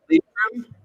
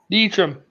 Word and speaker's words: Leitrim: Leitrim? Yes. Was it And then Leitrim or Limerick? light trim? Leitrim. Leitrim. Oh, fair enough. Okay. Leitrim.